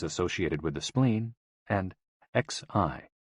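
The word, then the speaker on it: 嘻: Hoo, pronounced like hu, which is associated with the spleen, and Xi, pronounced like shi, which connects the whole body.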